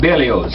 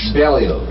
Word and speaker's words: Berlioz: How do you say that? Berlioz. Berlioz. You do say the Z. Berlioz.